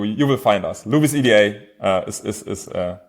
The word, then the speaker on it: EDA: the right pronunciation um yeah Eda com from electronic design automation so we usually go with Eda but I think everybody's saying it differently so Louisa is also fine um if you type